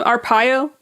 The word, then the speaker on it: Arpaio: Arpaio.